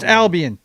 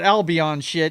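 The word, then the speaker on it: Albion: It's pronounced Albian. You confused me with that Albon Yeah, I know all about Albian.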